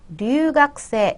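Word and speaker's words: 留学生: 발음 을 들어 보면 " 류가 쿠세 " 처럼 들립니다 . " 류가 쿠세이 " 라고 쓰여 있고 " 쿠 " 가 들어가 있어서 " 가쿠세이 " 처럼 발음 될 거 라 고 생각 할 수도 있지만 , 실제로 는 " 가쿠세 " 처럼 발음 된다는 걸 눈치채셨죠 ?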